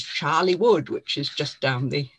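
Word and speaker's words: Chorleywood: read in hertfordshire but the moment you pronounce it you understand where it is because it's charlie wood which is just down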